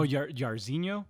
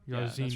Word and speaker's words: Jairzinho: How you say his first name? Oh, Jairzinho. Jairzinho.